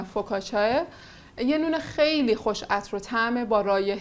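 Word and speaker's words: focaccia: آماده آماده کنیم نان فوکاچیا یا نان فوکاچیا که حالا تلفظ ایتالی ش معمولا فوکا چاه یه نون خیلی خوش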